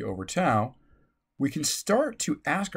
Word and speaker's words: tau: constant tau and by the way this is pronounced t-a-u tau the time constant is calculated as the